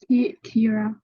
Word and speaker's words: Kiara: How do I pronounce? Kira. Kira. Kira, I pronounce correct, Kira. I like to pronounce Kira, sorry.